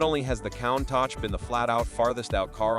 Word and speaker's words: Countach: The mid-engine Countach, pronounced Countach, had evolved into a spectacle of wild flares,